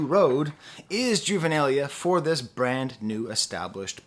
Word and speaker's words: juvenilia: contemplating was out of juvenalia juvenilia I don't know how to pronounce that word I've only ever seen it read uh juvenilia I believe is how you pronounce it is it like